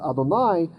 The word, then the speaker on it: Adonai: but yet it's pointed the messoria is telling us this to pronounce it adonai that the way it was memorized by them was adonai right but the text